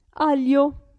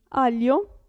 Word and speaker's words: aglio: il gruppo g l in questo caso la g non si sente aglio si legge si pronuncia li aglio e qui maglia aglio